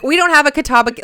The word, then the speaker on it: Catawba: you've reached the admissions office of catawba college catawba that's how you say it well um as